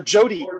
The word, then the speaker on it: JOTA: I'm here to talk to you just a little bit about an upcoming event, Jotai, or Jody, as it's pronounced regularly.